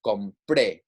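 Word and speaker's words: compré: So in this sense, we're putting that stress on the last syllable here. So it's compre, right?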